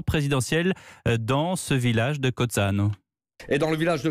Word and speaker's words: Cozzano: Cozzano, comment est-ce que vous prononcez ? Cozzano, oui.